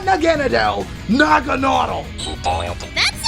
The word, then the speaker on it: Naganadel: It's not Naganadel. You pronounced it wrong on purpose. It's Nagonautle. Not Naganadel. Nagonautle.